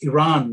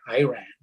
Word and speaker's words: Iran: Anyway, so I wanted to tell him it's Iran, not Iran.